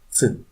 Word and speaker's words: Ц: C is similar to ts, but very fast and together. Listen and try to repeat. C.